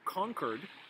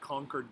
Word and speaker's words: Concord: that deal or concordat conquered just like conquered new hampshire not conquered like i conquered a country that's c-o-n-q-u-e-r-e-d this is concord c-o-n-c-o-r-b uh the concord act or the agreement conquered means a friendly agreement